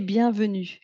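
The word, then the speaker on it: bienvenue: We say we say bianu.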